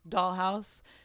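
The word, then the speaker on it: Dahl Haus: My band's Dollhouse is at DAHL_HAUS.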